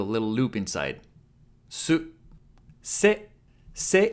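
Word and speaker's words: せ: Se is pronounced like se in cell.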